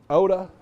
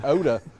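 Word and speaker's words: eau de: And Oda. Oda. And that's spelled E A U space D E. Oda.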